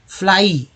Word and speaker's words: fly: अ नहीं होगा, ये बड़ी ई हो जाएगा, फ्लाई।